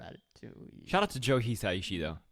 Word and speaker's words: Hisaishi: Ponyo is how do you pronounce his last name? Hayashi, Joe Hayashi. oh the composer? Hisaishi.